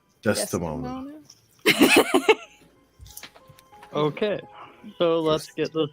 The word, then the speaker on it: Desdemona: One of the worst things I can do is say the name wrong. Desmona? Desdemona.